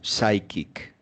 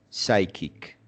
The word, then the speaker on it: psychic: oh by the way this this word is pronounced psychic psychic yes Seppo a confounder fighting men taken physic